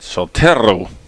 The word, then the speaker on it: Soltero: I asked Raina today if I'm messing up her pronunciation, and she said, "How do you say it?" And I said Soltero, and she said, "Yeah, that works." And I said, "Well, how would you say it?" And she said Soltero.